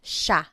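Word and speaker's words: siya: and again just to point out the pronunciation it looks like it should be pronounced but it's usually pronounced Sha Sha Sila is theyo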